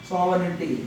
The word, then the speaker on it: sovereignty: SOVERGINTY sovereignty. G is a pronunciation silent. అర్థమైంది కదా? written is a G. The pronunciation is written saying G is a silent letter.